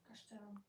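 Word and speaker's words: Kasztelan: How would I pronounce that, Dom? Castellan.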